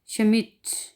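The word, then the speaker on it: Schmidt: जैसा कि अगली मिसाल है शमिट, इसमें हम डे नहीं पढ़ेंगे यानी कि डे साइलेंट रहेगा, डे जो है वो साइलेंट है।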